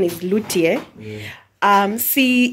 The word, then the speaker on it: luthier: about uh um a luthier okay the correct pronunciation is lutier um see it's a person who makes stringed